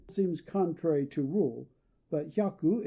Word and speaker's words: hyaku: The O before this trisyllable seems contrary to rule, but hyaku is pronounced almost like a dissyllable.